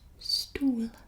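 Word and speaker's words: stoel: i can't remember much the next one is stool stool and it is chair so i guess similar to like stool in english but stool stool it's kind of like a shorter sound and then stool in english stool chair book book so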